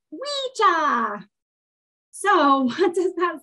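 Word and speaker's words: wicce: And although it looks like it would be pronounced pika, the way that you actually say it is weecha.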